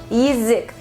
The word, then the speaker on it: язык: Mouth in Russian is язык, язык. Please pay attention to the transcription, язык, язык. It's not язык, it's язык. Just like in ushi, the